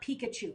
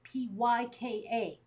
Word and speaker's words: Pyka: look for her and it's not Pikachu it's py ka she's got a trick name it's German and it is German